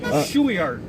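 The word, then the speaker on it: Shueyart: Shueyard. What is it? Shueyard. Shueyard. And that's, how's it spelled? S-H-U-E-Y-A-R-T. Shueyard. Okay. My name's Shuey, but I do it backwards.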